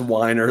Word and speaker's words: Weiner: It's pronounced whiner though."